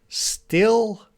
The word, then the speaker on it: still: what is difference between still and steel in pronunciation still steel still very short I sound still still